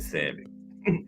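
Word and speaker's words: Sami: S-A-M-I, that's Samai or something. I said Sammy. That's the English pronunciation. Probably Samai.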